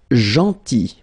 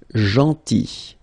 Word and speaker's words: gentil: Then gentil, so remember this final L is not pronounced, gentil, gentil, and it's nice or kind.